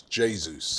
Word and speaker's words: Jesus: I've been told by a Brazilian that it's pronounced in the Brazilian way of doing it. It's Jesus.